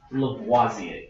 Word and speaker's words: Lavoisier: If you want to know how to pronounce it, it's pronounced Lavoisier.